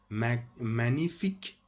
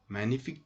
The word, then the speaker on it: magnifique: Magnifique. Magnifique. Don't pronounce G in this word. Don't say magnifique. Magnifique. G, ça ne se prononce pas. It's silent. It's a silent letter.